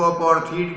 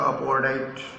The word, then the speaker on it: apartheid: Generally लोग इसको अपार्थीड कहते हैं, लेकिन करेक्ट प्रोनाउंसिएशन इसका अपार्थाइड। इसने क्रिएट किया, रंगभेद ने क्रिएट किया क्या क्रिएट किया?